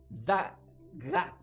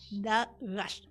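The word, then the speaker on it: דַּקָּה: Ahora, la palabra que es el sirvido pasivo, delicado se pronuncia como diga da gaj. Da gash.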